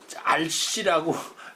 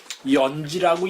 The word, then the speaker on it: 閼氏: 그래서 장녀는 전거연지, 요걸 알씨라고 이제 발음은 이제 그냥 보통 있는 걸 알씨죠. 근데 이게 연지라고 읽도록 이제 여기 하게 되어 있습니다.